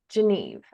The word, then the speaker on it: Geneve: I will first say if you're not sure how to say it think of Geneva in Switzerland and then take the a off the end geneve uh sometimes that's helpful